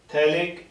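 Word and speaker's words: phthalic: थैलिक acid. PH silent होता है इसमें, थैलिक एसिड।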